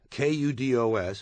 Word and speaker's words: kudos: word as kudo kudos kud OS is a singular noun meaning praise and it is properly pronounced kudos there is also a